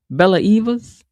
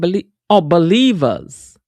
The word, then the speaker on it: Believers: Bella Evas? Am I saying it wrong? Believers. Believers. I got you like Eva believe.